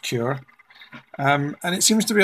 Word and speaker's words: Cura: i'm now using cura i think it's pronounced cure and it seems to